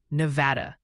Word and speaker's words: Nevada: Oh, and the pronunciation Posi is gently suggesting Nevada, Iowa is Nevada, and Monomony is more like Monomony, just FYI.